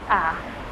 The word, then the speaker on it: à la: À la, on prononce juste à.